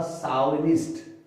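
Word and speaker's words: chauvinist: इसका मीनिंग, अगर आप इसका मीनिंग, ये स्पेलिंग आपको थोड़ी टफ लगती है, वैसे इसका साउंड होगा साउनिस्ट, एस एच वाला पहला साउनिस्ट। अगर आप फोनेटिक्स देखें तो ये आएगा इसका साउनिस्ट, यानी पुरुषत्ववादी।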